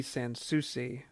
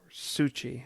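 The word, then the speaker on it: San Souci: the folklorist, the reteller, Robert D. Sansucci, or Succi, I'm not sure how you pronounce it, but I always said Sansucci.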